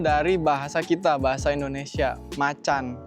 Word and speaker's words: Macan: bahasa kita Bahasa Indonesia Macan atau Tiger berarti kalau menurut gua ya pribadi berarti bacanya macan bukan makan karena dia aja ngambil dari bahasa